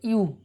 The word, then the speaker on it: ewe: EWE উচ্চারণ হচ্ছে ইউ, ইউ। দেখো শুরু হয়েছে ই দিয়ে, উচ্চারণ হচ্ছে কিন্তু ইউ, YO ইউ।